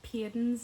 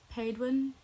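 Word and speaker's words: Paedyn: Like, I thought Payton's name in Parlous was Paedwin, and I still say Paedwin in my head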